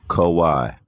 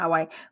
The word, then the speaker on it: Kawhi: bit about quali Leonard kowai kowai okay Kawai I want to say how Wyatt but I know it's not highway quali Leonard is it